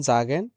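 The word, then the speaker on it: sagen: আমরা যখন দেখব যে এস এর পরে ভাওয়েল এই আই ও ইউ থাকলে জ এর মত উচ্চারণ হয় যেমন জি জন জাগেন এবং এস এর পরে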